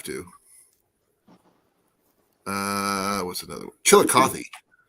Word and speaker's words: Chillicothe: uh what's another one chillicothe she like coffee uh let's see here